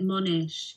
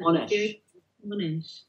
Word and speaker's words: Monash: and Preventative Medicine at Monash University. Did I say that right, Rosalind? I say it Monash here. Monash.